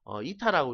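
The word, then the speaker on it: η: 어떻게 읽어요? 그러면 2타라고 읽으시면 돼.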